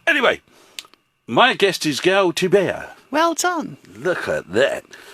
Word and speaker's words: Thibert: Just think like how you say camembert for the bear on the end, B-E-R-T. Right. Camembert, so Thibert. Well, And in French the H is silenced, T-H-I, as in T-H-I is silent. T-Bear. Yeah. Thibert.